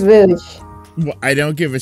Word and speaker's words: Rouge: I'm such a nice guy that I'm giving Rogue to Cassie. Whoa. Because are you I'm sure if you can't even yes, pronounce because, her name right? Because it's Rouge.